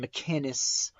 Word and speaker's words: McInnes: combat the leftist ideology Gavin McInnes McInnis Gavin McInnes that's how you pronounce it Gavin he would be another one